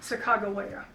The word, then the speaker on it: Sacagawea: And joined up with the Lewis and Clark party because of her husband Charbonneau, and that was with the Mandan tribe, and they pronounced it Sacagawea.